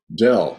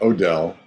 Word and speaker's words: Doell: And it's Dell, not Odell.